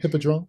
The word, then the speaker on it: Hippodrome: Hippodrome.